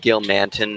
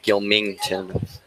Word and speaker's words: Gilmanton: And it's pronounced Gilmanton, not Gilmington. Gilmanton.